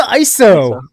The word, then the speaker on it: ISO: that ISO what's the iso um it's pronounced ISO so just so you